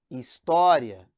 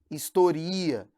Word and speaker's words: história: Por exemplo, você tem aqui a palavra história, que é diferente de historia. Porque quando você fala em história, é uma paroxítona terminada em ditongo, e aqui historia.